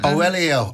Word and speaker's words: Oweleo: So Oweleo, am I pronouncing that correctly? Yes, Oweleo.